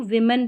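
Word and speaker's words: women: पढ़ा जा रहा है ओ को भी ई पढ़ा जा रहा है इसको विमन पढ़ते हैं विमेन वी ई उच्चारण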